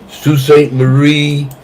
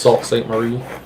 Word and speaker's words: Sault Ste. Marie: Charlevoix and Sault Ste. Marie.